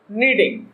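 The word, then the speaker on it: kneading: तो how much फ्ला was your mother नीडिंग, means तुम्हारी mummy कितना आटा गूंथ रही थी। तो गूंथना के लिए नीडिंग यूज करना है, और के को साइलेंट रखना है।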